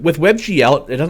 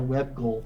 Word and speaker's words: WebGL: just a browser um you pronounce that webgl yeah i feel silly i always call it web goal web goal yeah um but like it feels like i'm the one who's inaccurate there yeah you know it's